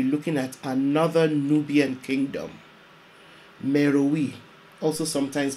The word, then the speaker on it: Meroe: episode we'll be looking at another nubian kingdom meruwi also sometimes pronounced mero napata the capital city of kush was sacked